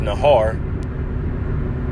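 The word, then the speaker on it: נהר: here that word flood in the hebrew is pronounced nahar when the enemy shall come in like a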